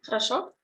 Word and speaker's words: Хорошо: Stress is on the last O. And as I told you, other O we read like A.